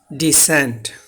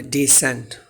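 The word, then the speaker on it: decent: প্রথম শব্দটা হবে ডিসেন্ট। ডির পরে একটু এই থাকতে হবে ডিসেন্ট। ডিটা একটু লম্বা করে টানতে হবে। ডিসেন্ট ডিসেন্ট হচ্ছে ভদ্র।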